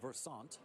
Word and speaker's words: Versant: Well, you can go with the French pronunciation, Versant. I think he works for us. Or you can go with Versant.